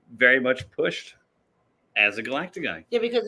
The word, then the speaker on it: galactagogue: Galactagogue. Galactagogue. Look it up. I might have made it up. Can you spell that?